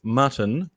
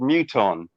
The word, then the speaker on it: Muton: for this guy uh it says mutton the enemy am i pronouncing that right mutton in a way um uh i was going to tell you this this story because this guy is actually called muton however that's right yeah